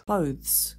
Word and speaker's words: clothes: But yes, it should be a TH th rather than S. But close. Maybe it'll trigger that just to remember at least it's one syllable. I think that's the most important thing.